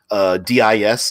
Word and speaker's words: Dis: I pronounce it. I've always heard it was pronounced D. DIS. Dis.